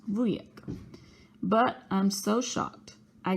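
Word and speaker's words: wujek: boo boo I'm saying vu is polish for uncle it's pronounced Lou yet but I'm so shocked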